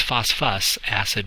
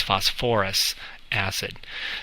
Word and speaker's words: phosphorous acid: into us so it's you would think it's phosp us acid but yeah again you act you add an extra little syllable in there so it's phosphorous acid so sulfur compounds and/or